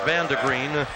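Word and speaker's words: Vandegrind: V-A-N-D-E-G-R-I-N-D, but pronounced Vandegreen.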